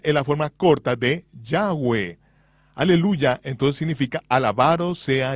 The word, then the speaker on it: Yahweh: Yo pronuncio su nombre, Yahweh. Josefo dijo que había cuatro vocales sobre la mitra del sumo sacerdote, Yot, he vabb, que son pronunciadas como vocales en un solo respiro, Yahweh, fluido, Yahwe.